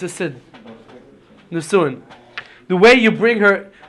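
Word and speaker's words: נישואין: The second stage of marriage is called nisuin. It's spelled like this: Nun, Samech, Vav, Aleph, Yud, Nun. Nisuin.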